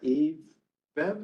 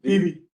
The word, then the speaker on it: Vivi: And Eve Bev, is that how you pronounce it? Vivi. Vivi. Yes. Ah, just like it's spelled. Exactly. Lots of V's, lots of E's.